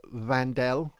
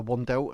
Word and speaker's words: Wandelt: I believe her name's actually pronounced Vandel, and I call her Wandelt, and I keep saying out of habit Wandelt, but I think it's like as if it's a V, like Vandelt.